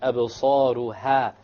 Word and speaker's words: أَبْصَارُهَا: أَبْصَارُهَا, sa is heavy and ha is light.